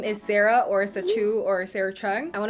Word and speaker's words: Sacheu: Hey y'all, my name is Sarah or SACHEU or Sarah Chung. I want to make sure y'all know how to pronounce it because she's now her own brand.